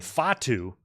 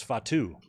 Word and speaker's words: Fatu: Sol let's going and Jacob Fatu I thought it was Fatu he put the emphasis on the wrong cabel yeah Josh Nick Aldis